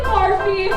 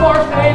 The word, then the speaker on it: Barfée: Returning after last season's tragic setback, William Barfy. It's pronounced Barfay, there's an accent to you.